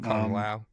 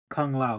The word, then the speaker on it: Kung Lao: Liu Kang and why am I saying his name wrong? Kung Lao. Kung Lao.